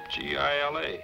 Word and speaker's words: Gila: Why didn't you tell me it was spelled with a G? G-I-L-A, Gila. Everybody knows that. It's Spanish.